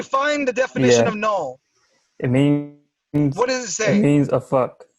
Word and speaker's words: Knull: We're just trying to say this is the cameo appearance of Null.